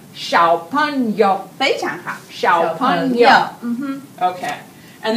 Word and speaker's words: 小朋友: Can you help me with my pronunciation? 小朋友. 小朋友.